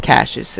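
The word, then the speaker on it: Kassius: Ono I've seen nxc it's pronounced cashes which I think is weird that's at least how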